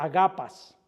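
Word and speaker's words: ἀγαπᾷς: una palabra griega que se que se se pronuncia agapas."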